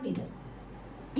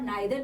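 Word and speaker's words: neither: इसको आप आइदर और नाइदर भी बोल सकते हो, क्योंकि एक अमेरिकन जो प्रोनाउंसिएशन है उसकी आइदर नाइदर है, जो इसकी ब्रिटिश प्रोनाउंसिएशन है वो ईदर नीदर है।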